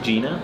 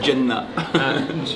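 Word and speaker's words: Jena: You say, how do you say it? I think Gina. Yeah, but you say it like it's a facility. You say it in like almost Arabic. You say Jenna. Gina. Gina facility. How did you spend your days there?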